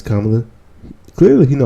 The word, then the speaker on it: Kamala: African-American lady right and he's mispronounced the name Kamala and people some of his followers say Kamala but all the time no it's kamla clearly he know how